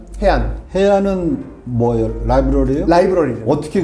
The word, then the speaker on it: HEAAN: 해안.